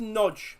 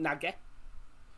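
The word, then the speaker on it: Nagy: the fullback for hungary so it's pronounced nudge which is nice to know so not naga and it's a good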